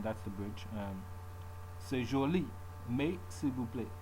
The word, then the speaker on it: mais: Mais, you drop the S.